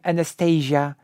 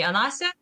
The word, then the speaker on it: Anastasia: But England also has the name Anastasia.